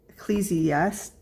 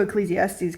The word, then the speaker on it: Ecclesiastes: it's the Book of Ecclesiastes I totally mispronounce that wrong Eccles I yeah c e c l e s i a s t e s so e Ecclesiastes I definitely pronounce that wrong but it talks about